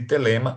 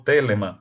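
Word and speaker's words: Thelema: os livros sagrados de Telema, ou Telema, para algumas pronúncias.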